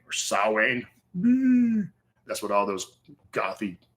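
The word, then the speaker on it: Samhain: listened to a ton of Misfits and uh Sam Hayne or sa that's what all those gothy crazy say right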